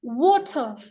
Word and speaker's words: water: It's water. Water. It's R is silent.